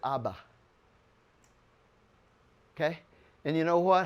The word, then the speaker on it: Abba: If it's personal to you, you'll add a second bull, and then you pronounce it Abba.